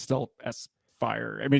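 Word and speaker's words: S-Phyre: think also like sunglasses, always called it S-Fire. Same. But he was saying that he's pretty sure the intended pronunciation is Sphere.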